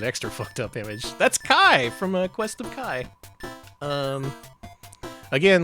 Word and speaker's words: Ki: Yeah, it's pronounced Kai, spelled K-I.